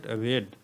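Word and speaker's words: read: আপনাদেরকে বলি এই যে দেখেন রেড আমি যে উচ্চারণ করলাম এটি প্রেজেন্ট ফর্মে কিন্তু রিড উচ্চারণ হয় এবং পাস্ট ফর্ম ও পাস্ট পার্টিসিপল ফর্মে কিন্তু রেড রেড উচ্চারণ হয়ে থাকে এখন দেখেন দ্বিতীয় উদাহরণ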